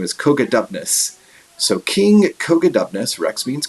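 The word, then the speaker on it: Cogidubnus: So the way we pronounce his name is Cogadubnus.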